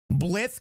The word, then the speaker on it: Blythe: It's pronounced Blythe.